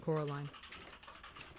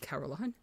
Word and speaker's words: Coraline: They kept saying Coraline. Not Caroline. Not Caroline at all.